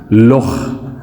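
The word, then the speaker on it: loch: के एक स्पेलिंग है एल ओ सी H Scott language की है लोख और के एच भी हम इसके लिए यूज करते हैं इंग्लिश में केच खा तो यह हर्ड होता है थोड़ा सा अब आते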